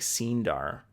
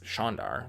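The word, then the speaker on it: Shienar: a before the II it almost looks like scene dar but of course if you pronounce Sean the same way it's Sean dar like that just makes sense now that I know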